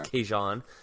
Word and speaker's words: Kajan: Doesn't have the same ring to it, but they said it was Kajan. No, I'm sorry. Hey, Cajun, sorry. I'm going to stick to Cajun. It rhymes with Ragin'.